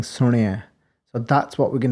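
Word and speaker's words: ਸੁਣਿਐ: And then on the Rana, there's actual Sahari, so it's Suniai, and you often hear things like Suniai, which would be a Bihari on the Nana, and then it would be a Lam on the Ada.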